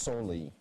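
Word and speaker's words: soli: also have accepted s-o-l-i which is pronounced solely going for a 10-point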